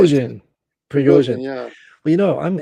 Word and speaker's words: Prigozhin: Prigozhin.